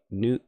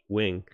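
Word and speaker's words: Nguyen: Fox Fairfield Melissa N Nan I think it's Wing actually I had a friend in school and his last name was nguan we call Nan but I'm pretty sure it's actually pronounced Wing uh but anyway uh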